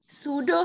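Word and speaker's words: pseudo: just consider it's pronunciation सूडो सूडो hypo para thyroid जम the word is पी एस ई यू डी ओ सूडो ठीक है पीज यहां पे silent है सुडो सूडो hypo pride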